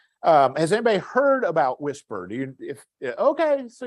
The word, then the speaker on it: WSPR: about weak signal propagation reporter or something called whisper is how it's pronounced it is a digital mode and it's